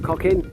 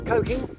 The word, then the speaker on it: Cocking: Four miles away from Cocking. How do you pronounce Cocking? Is it Cocking? Coking? Someone in the village might say, Cocking, dear man. It's not cocking, it's coking.